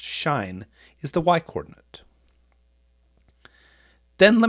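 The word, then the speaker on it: sinh: of the angle and hyperbolic sign pronounced shine is the y-coordinate then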